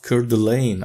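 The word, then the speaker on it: Coeur d'Alene: great state of idaho in the town of curdulain i hope i'm pronouncing it right but yeah this dlc came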